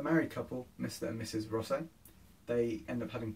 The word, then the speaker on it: Rosset: That's how you pronounce that, Rosset.